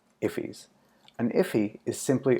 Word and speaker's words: IIFE: invoked function expressions or IIF YZ pronounced if he's and if he is